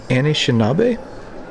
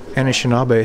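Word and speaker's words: Anishinaabe: alright next is the Anishinabe that's the pronunciation I'm going to roll with for right now until I learn different but these are people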